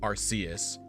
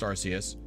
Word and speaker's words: Arceus: it's also pronounced uh Arceus in a Jewel of Life trailer uh eventually it was switched to Arceus probably just to prevent it from sounding like ass um he funny word